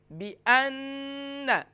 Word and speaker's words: بِأَنَّ: یا لم، علم یعلم، پھر اس کے بعد بِأَنَّ کی ہجے اس طریقے سے ہوگی، با زیر بی، حمزہ نون زبر ان، نون زبر نا، بِأَنَّ۔ اب بِأَنَّ پر جو